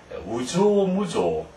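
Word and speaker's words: 有象無象: 나주 나반스 나나나나 77번 우조 무조 읽을 때 이것을 우조 조라고 읽는 유자를 유로 읽지 않고 우로 용 조심해야 되고요 그래서 코노요노 나니르에 유게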